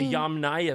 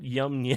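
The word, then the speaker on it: Yamnaya: It's pronounced Arian Persian. You see the Indo-Aryanss, the Yam Naya people.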